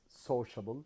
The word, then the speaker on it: sociable: first uh word is sociable yes sociable so social yes sociable sociable yes so the the stress is on the first syllable we have the suffix